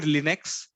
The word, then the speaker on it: Linux: Linux or Linux so actually it is called Linux the actual name is Linux not Linux but uh the Indian they have just uh differentiated the pronunciation of this and they are calling it as Linex just like when you uh you might have